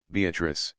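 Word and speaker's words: Beatrice: place I come note beatric I use this word as it is pronounced in the Italian as consisting of four syllables of which the third is a long one Revisited with joy Love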